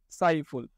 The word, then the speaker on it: সাইফুল: আমরা তো উচ্চারণের সময় বলি না সাইফুল ল বলি? না। আমরা কি বলি? সাইফুল। অর্থাৎ এই ল এর সাথে যে একটা অ আছে এই অটা উচ্চারণ হচ্ছে না।